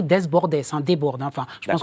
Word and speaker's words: Desbordes: On peut citer le petit dernier de la liste Jean-Philippe Desbord, je le prononce mal Jean-Philippe Desbordes.